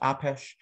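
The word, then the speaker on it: Apess: are these two men william apes sometimes pronounced apesh a uh native american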